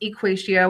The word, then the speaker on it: EquatIO: I am a 7th grade math teacher here, and yes, it is pronounced EquatIO.